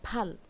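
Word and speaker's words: 팔: ছয় আছে সেই ছিল আর আট এর উচ্চারণটা হচ্ছে ফাল ফাল না ফাল ফ তে একটু জোর দিয়ে বলতে হবে ফাল এটা শুধুমাত্র আটের ক্ষেত্রে না এই ফিওপ বা ফখ ব্যবহার হচ্ছে সেখানে আপনারা উচ্চারণটা দু ঠোঁট একসাথে করে বলবেন ফ ফ থেকে ফাল আচ্ছা এরপরে 10 শিপ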